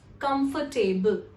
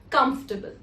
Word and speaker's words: comfortable: This word is also mispronounced as comfortable. So people often, because of the word table being used in this word, we often pronounce it as comfortable, which is incorrect. The correct pronunciation is comfortable.